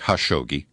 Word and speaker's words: Khashoggi: his name is Jamal Khashoggi I guess in Arabic that K is silent it's more like ha shogi as we reported yesterday